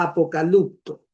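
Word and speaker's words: ἀποκαλύπτω: Entonces, en la 70, que es el Antiguo Testamento, en griego, hay un verbo que se pronuncia apocalupto.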